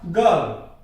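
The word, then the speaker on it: girl: जैसे ये शब्द मैंने ले लिया गर्ल, तो यहां आर आया हुआ है और आर के बाद व्यंजन की ध्वनि है ले, तो गर्ल नहीं होगा ये गर्ल।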